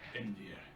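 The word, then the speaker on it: Einvere: No, is it just spelled like Envier, like literally the word envy?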